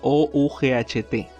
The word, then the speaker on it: ought: cambia la terminación a O-U-G-H-T. Y esto se pronuncia ought. Una O abierta larga seguida de una T. El GH es mudo.